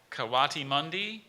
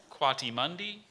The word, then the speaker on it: coatimundi: the origin please yeah I've got some variants I've got coatimundi or coatimundi or qua T Mundi or coatimundi l coati mundi that's the one I use coatimundi yeah okay we meet